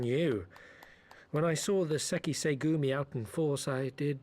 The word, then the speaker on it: Sekisei Gumi: Sekisei Gumi. So I was kind of saying it right. It's just, I tried to say it a little too much, like, one word.